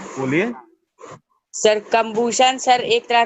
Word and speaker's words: combustion: पूछ दिया कि सर कंबशन ये होता है, कंबशन वो होता है। सर हाँ, बोलिए। सर कंबूशन सर एक तरह का केमिकल प्रोसेस होता है नॉट जिसमें कंबूशन, सर।